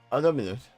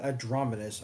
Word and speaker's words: Dominus: Although, pronounce that name again. Dominus. Yeah, okay, there you go. I don't think it's what you said at first. Like Adrominus, I think is what thought I heard.